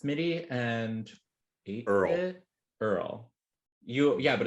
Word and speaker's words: URL: And that's actually the scene where it's Smitty and Earl. Yeah, but it's spelled URL, right? His name is URL, pronounced Earl. Earl.